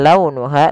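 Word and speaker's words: لونها: Kemudian pelafal launuha, lembutkan pelafalannya dalam launuha karena ada huruf waw yang sukun didahului dengan fathah. Ha ada mad tabi'i, panjangnya 2 harokat.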